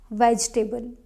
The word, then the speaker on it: vegetable: says that next is vegetable not vegetable no e doesn't count here vegetable if you are going